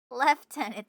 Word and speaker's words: lieutenant: Lieutenant is pronounced with an F sound primarily because of the way the word was adopted into English from French where the Lu meaning part where the L part meaning place could be perceived as having a slight V or F sound when spoken quickly leading to the F pronunciation in English.